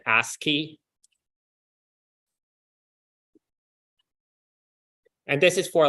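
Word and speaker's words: ASCII: of the schemes is asky so this is pronounced asky and this is for like American Standard something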